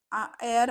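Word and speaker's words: heir: वारसदार याच मिनिंग आहे एअर म्हणजे हेअर म्हणजे वारसदार ओके हेअर हे वेगळा आहे आणि एअर हे वेगळ आहे इथे एच हा सायलेंट आहे बट हेअर मध्ये एच हा सायलेंट नाही आहे ओके हे तुम्हाला लक्षात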